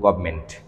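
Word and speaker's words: government: শব্দের বানানটা হচ্ছে গভর্মেন্ট। কিন্তু আমরা যখন উচ্চারণ করব তখন বলব গভমেন্ট।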